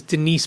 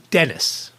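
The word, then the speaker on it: Denice: So it sounds like Dennis. And my phone does the same thing. My phone says Dennis all the time.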